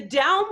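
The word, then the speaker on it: Dão: down region and then to alentejo so the down region it's d-a-o with like a tilde over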